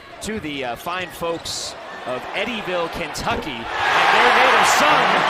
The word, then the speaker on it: Eddyville: But I had mispronounced his hometown the other night. Eddyville, Kentucky there. Eddyville.